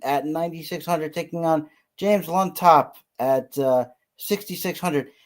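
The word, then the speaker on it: Llontop: How do you pronounce that with double L? Does anybody have a better idea than me? What is it? Yontop. Okay, so it's like a what? Okay, so James Yontop at 6,600.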